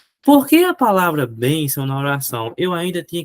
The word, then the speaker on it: bênção: Olha, bção, ó, é uma paroxítona. É uma paroxítona, só que é uma paroxítona que termina em ditongo, ó. Ó o ditongo aqui, ó. Bênção.